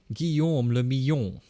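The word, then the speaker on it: Guillaume Le Million: If it doesn't rhyme, you're not pronouncing it right. Nice. Guillaume le Millon.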